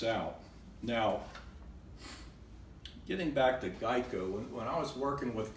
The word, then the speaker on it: GEICO: well what does a gecko have to do with Geico well back in the early days people kept mispronouncing Geico and calling of gecko and so the actual